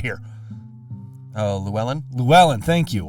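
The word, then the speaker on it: Llewelyn: here I got it right here oh lellan Luellen thank you like for some reason Desmond Luellen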